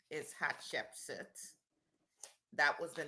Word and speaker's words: Hatshepsut: Her um her given name is Hatchepsit.